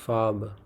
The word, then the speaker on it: Farbe: او تلفظ ته پام وکړئ ملګرو، دا فاربه نه ویل کېږي، دا اغ چې ده دلته دا نه تلفظ کېږي. دی فاربه ویل کېږي.